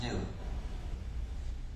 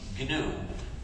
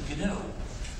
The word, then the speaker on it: GNU: So, I gave the system the name GNU, but please don't follow the dictionary when you pronounce this name because we've been working